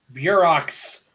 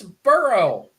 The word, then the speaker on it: Burrow: I said pronounce, not spell. Oh, Burrow. Burox. Burox. Hey, I like Santori. Can you blame me for not liking that sound? Yes, Why is that? it's Burrow.